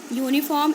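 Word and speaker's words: uniform: यूनिफॉर्म एंड यूनिकॉर्न they both begin with you. Vowel letter. You हमारा vowel letter है. ठीक है. ये यू से स्टार्ट हुए हैं, शुरू हुए, but they are pronounced beginning with a consonant sound you.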